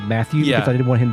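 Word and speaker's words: Mathiu: a fellow called matthew i'm going with matthew m m-a-t-h-i-u i hate the way this is spelled yeah it makes me upset yeah i used to always say when i was like when i was younger i would call him mathieu just because i didn't want him to be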